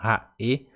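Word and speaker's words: ha'e: Esse H você vai pronunciar como se fosse o R do português, por exemplo, rato, roupa, esse re, exatamente o R do português.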